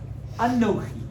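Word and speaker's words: אנכי: Dibrot, these 10 statements, and it is Aleph, Nun, Chaf, Yud. Anochi. Anochi.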